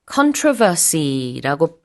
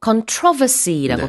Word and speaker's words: controversy: 이 논란, controversy라고 발음하기도 하고 controversy라고 발음하기도 합니다. 강세가 다른데요. 둘 다 가능하고 논란이 많은 국민투표였어요.